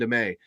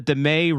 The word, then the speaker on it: Damet: our leadership is now Ray and Damet. It rhymes. It's the Damet Ray.